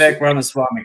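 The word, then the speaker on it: Vivek Ramaswamy: Uh I may mispronounce his name but American politician Vivec Ramaswami I think his last name is Vivec Ramaswami correct tweeted uh in support of the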